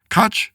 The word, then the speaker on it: Koch: So, John Cook, I think you said if uh if we were in the Northeast, they'd pronounce it cootch.